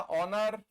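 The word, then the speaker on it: honour: हमने लिखा ऑनर। हमने लिखा आवर हमने लिखा ईर हमने लिखा ऑनरेरी इन सब में एच साइलेंट है ऑनेस्ट ऑनर ये ओ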